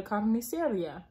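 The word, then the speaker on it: carnicería: When my parents are at work, My mommy's mommy, Nana Carmen, takes me shopping at the carniceria. Rhymes with Maria.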